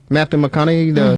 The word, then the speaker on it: Matthew McConaughey: Matthew McConaughey?